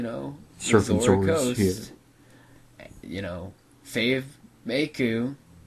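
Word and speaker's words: Mikau: Coast you know fave meu I always said maku but then I heard meu pronounced so I'm going to say meu you know I I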